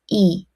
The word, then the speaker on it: 의: After consonant is pronounced as e.